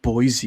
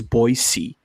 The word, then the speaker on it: Boise: boise and he's like it's not boise it's boise yes he said that you pronounce it boise i don't know how